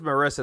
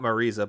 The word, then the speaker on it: Marisa: I thought it was Marissa, not Marisa, but at least Street Fighter's telling the right name pronunciation, so I'll give it that.